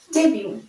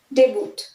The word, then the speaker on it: debut: ডেবিউ, DEBUT, normally দেখে মনে হচ্ছে এটা ডেবুট, বাট ইটস নট ডেবুট, ইটস ডেবিউ, ডেবিউ।